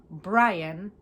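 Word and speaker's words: Bryan: It's interesting that it's pronounced Brian just because the Y is there.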